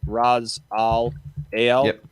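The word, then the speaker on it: Ra's al Ghul: s space t-h-u-l that's actually yeah yeah right raz all ale yeah yeah frog yes because dawson didn't you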